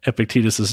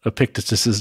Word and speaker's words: Epictetus: Well, so in Epictetus's case, I prefer the pronunciation Epictetus because that second E, the one in the middle, is an eta. So it's a long vowel, Epictetus.